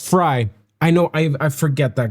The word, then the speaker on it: Frey: By the way, Glenn Frey's last name is pronounced Fry.